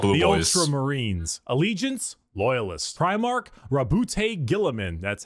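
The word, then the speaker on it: Roboute Guilliman: Primarch Rabute Gilliman.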